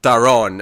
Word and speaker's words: Daron: the stopping of Brainiac, he goes to Darren, or Daron, as he corrects him at one point. We've been all saying it wrong.